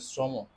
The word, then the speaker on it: শ্রম: শুরুতে তার মানে অবশ্যই র ফলা যুক্ত বর্ণের সাথে সবসময় ওকার হবে শ্রম তাহলে আমাকে অবশ্যই